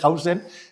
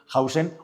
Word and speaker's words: Huijsen: El padre de Hausen, que yo lo he aprendido a decir hace poco porque lo dicen los medios de comunicación, Hausen, Huijsen, para los que no saben pronunciar en holandés, que es un futbolista,